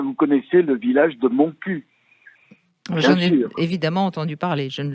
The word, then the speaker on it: Montcuq: connaissez le village de Montcuq évidemment entendu parler je ne le connais pas mais je voudrais en occitan il faudrait le prononcer manque plus que il faut prononcer toutes les consonnes mais l'étymologie Brigitte de